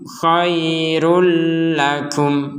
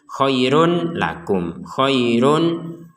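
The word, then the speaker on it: خَيْرٌ لَكُمْ: Dzalikum khairul lakum. Nah, kalau yang khairul lakum ini kita bacanya dengan memasukkan dhammatain atau tanwin ini kepada huruf lam. Jadi tidak dibaca jelas. Kalau dibaca jelas itu khairun lakum.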